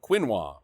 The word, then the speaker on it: quinoa: Quinoa. What's that? Quino. How do you pronounce that? Quinoa? Quino, thank you.